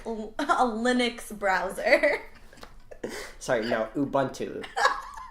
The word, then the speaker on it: Ubuntu: Linux browser sorry now Ubuntu she pronounced that wrong is Ubuntu Ubuntu yes or like Chrome we